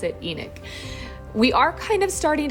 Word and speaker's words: Enoch: spelled e n o c that's how we pronounce it Enoch we are kind of starting to go down